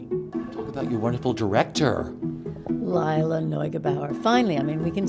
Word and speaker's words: Neugebauer: all going talk about your wonderful director Layla NOAB Bauer finally I mean we can say her name